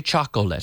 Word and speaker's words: chocolate: there but you say you see the oh but you don't pronounce it alright chocolate we don't say chocolate so chocolate chocolate and